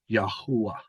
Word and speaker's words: Yahweh: And YHH is one of the earliest forms of the name for Yahweh, which the Hebrews originally pronounced as Yahuwah.